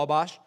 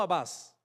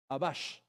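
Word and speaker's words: Atbash: Además, fueron capaces de crear una ley de interpretación conocida como Abash, no Abbas, Abash.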